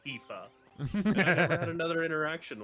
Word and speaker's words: Tifa: I love your Tiffa sleeves because that's how it looks how like it's pronounced in my head, you know? Tiff A. Tiff." And dude, he just looked at me, lowered his head to where like he was like glaring at me and he was like, "It's pronounced Tifa."